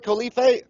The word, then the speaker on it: Khalife: interviewing one of my brothers from another mother Khalifa did i pronounce all right Khalifa that is just perfect the honor is all